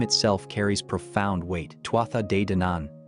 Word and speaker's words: Tuatha Dé Danann: Tuatha de Danan, pronounced Thuad Da Danon, translates literally as the tribes of the goddess Danu or the people of the goddess Danu.